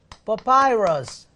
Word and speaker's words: papyrus: 여러분 그 종이의 근원이 아까 제가 파피루스라고 했는데 파피루스는요 영어로는 papyrus 이렇게 발음되거든요.